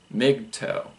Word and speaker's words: MGTOW: to the practice called men going their own way pronounced mig-toe migs it must have